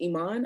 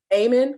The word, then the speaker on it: Iman: you um uh ima i think it's iman i'm not sure if i'm pronouncing your name right but thank you iman um for sharing that free library it's amen okay thank you amen